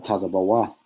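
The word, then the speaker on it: Tzevaot: All right, Yahweh Yahweh Tazabah or Tazabawath is how you say Lord of hosts, which means Lord of armies.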